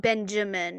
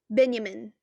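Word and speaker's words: Benyamin: it it's like a it's not benjamin it's been um benjamin um b-e-n-y-a-m-i-n ben um he comes in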